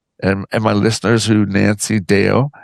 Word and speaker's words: Deyo: Can you tell me and my listeners who Nancy Deyo, am I pronouncing that properly? Deyo? You are.